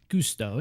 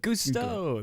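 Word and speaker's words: Gusteau: 2007 Pixar classic in which Remy falls into gesto I think that's how it's pronounced it's been a while since I've seen the movie Gusto you're good Gusto that's right uh yeah either way his chaotic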